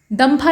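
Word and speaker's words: Dampa: मिजोरम में है दम्फा इसको कहा जाता है, डम्फा भी कहा जाता है, मतलब प्रोनाउंसिएशन का अंतर है।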